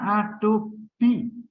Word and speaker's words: Adobe: Bacanya Adobe. BE-nya itu dibaca kayak ini loh, to be ya, to be dalam bahasa Inggris ya. B ada SMR gitu kan. Gitu kan. Ini B seperti itu ya, Adobe.